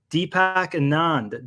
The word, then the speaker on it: Deepak Anand: today we have an exciting guest we have Deepak Anand did I pronounce that correctly Deepak yep you did awesome